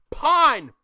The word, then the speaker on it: pon: Pon. P-O-N. When we say on, it's pon.